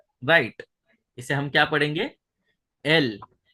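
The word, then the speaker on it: אל: एल के लिए, आलेफ के लिए हम आलेफ को जैसे साइलेंट में है, फिर सेरे क्या है, ई है, और लामेद क्या है, एल है। तो वो क्या बन गया, एल।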